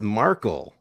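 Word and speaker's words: Markle: marel Megan marel marel oh is it not marel how do you say her name whiny piece of Megan marel is it whiny piece of no what what is her name it's marle oh marle well I mean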